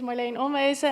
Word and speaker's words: Marleen Onwezen: Indeed, my name is Marleen Onwezen, and it was very good pronounced.